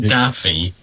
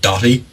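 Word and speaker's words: Daithí: People just call my first name Daffy or like No, it's not Daffy. Daffy. Doy as in like D O T I E. That's not how it's spelled, but it's pronounced like Doy.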